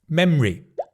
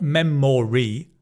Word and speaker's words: memory: Number two, memory. Not memory. Memory.